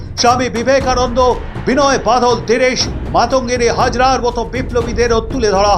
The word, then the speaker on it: মাতঙ্গিনী: এর আগে সংসদে দাঁড়িয়ে বিজেপির সাংসদ দিনেশ শর্মা মাতঙ্গিনী হাজরার নাম ভুল উচ্চারণ করেন। মাতা গিরি হাজরা বলে উচ্চারণ করে বাঙালি আবেগে ধাক্কা দেন।